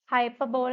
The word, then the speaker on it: hyperbole: Now next is hyperbole. Hyperbole എന്നാണ് എഴുതുന്നെങ്കിലും pronunciation is different.